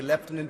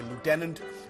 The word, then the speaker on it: lieutenant: Lieutenant Colonel Tulsi gabard we say leftenant the Americans say Lieutenant a 21-year military veteran